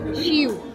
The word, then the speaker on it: Shiu: How do we pronounce the brand? Shiu.